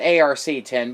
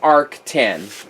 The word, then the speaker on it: ARC10: When I got it, I called it ARC10, but according to Arrakis website and their promo videos, it's pronounced ARC10.